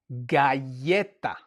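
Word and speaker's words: galleta: It's a G as in the word getta. Getta, right? We have a double L. We have to say yeah.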